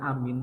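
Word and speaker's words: آمين: artinya orang yang dipercaya tapi kalau dibaca panjang semua artinya ya Allah kabulkanlah doa kami Maka kalau kemudian ada orang ngomong Amin Amin Amin Amin maka dari pengucapan saja sudah salah yang bener itu dipanjangkan semua amin amin amin memang untuk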